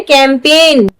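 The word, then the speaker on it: campaign: जी है, इसे पढ़ रहे हैं कैंपेन। जी को पढ़ रहे हैं नहीं पढ़ रहे ना, इसलिए हमें ध्यान रखना है एन से पहले अगर जी आ जाए तो जी हमेशा साइलेंट रहता है।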